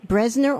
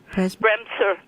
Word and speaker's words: Bremser: Would you spell it for us? What? Bresner or Bresmer? Bremser.